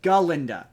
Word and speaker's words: Galinda: with her name's not Glenda her name is galinda she constantly corrects people my name is galinda g a l i g Linda um and